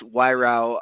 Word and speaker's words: Wyrow: It's Wyrow, rhymes with eyebrow is the closest thing I can come up with.